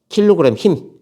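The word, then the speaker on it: kgf: 뉴 kg 힘 kg 힘스 힘이라고 읽어요. kg 힘 또는 옛날에는 kg 중 이렇게 읽기도 했습니다.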